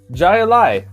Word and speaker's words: Jai Alai: It is Jai Alai by Cigar City Brewing Company.